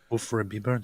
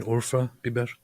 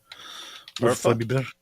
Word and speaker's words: Urfa Biber: There's no such thing as Ufra Biber. You mean Urfa Biber? Urfa? Biber? What's that mean? That is a don't ask me things, man. What? It's a spice. Oh. A spicy pepper spice. Nice. Biber is pepper. Urfa Biber. That's how you say it.